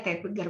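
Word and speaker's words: Zeitgeber: Ada namanya Tetbeger ya, Tetbeger tulisannya, berarti bacanya Tetbeger bahasa Jerman.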